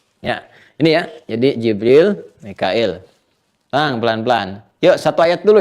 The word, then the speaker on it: Mikail: Mikail ini di riwayatnya Warash dibacanya Mikail. Ya, di Hafs dibacanya Mikal. Ya. Jibril wa Mikala di dalam Warash, atau bahkan Qalun wa Mikaila.